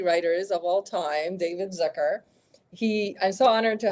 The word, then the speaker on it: Zucker: to have you um well thank you for pronouncing my name right really I did this Zer a lot of people say Zucker all my high school teachers always said Zucker so really I'm I'm